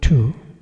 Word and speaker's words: tu: Therefore, the word to this I'm I'm pronouncing to but it's spelled T U not T wo.